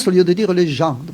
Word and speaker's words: gens: On dit les gens au lieu de dire les gens, parce que le S en occitan se prononce aussi à la fin.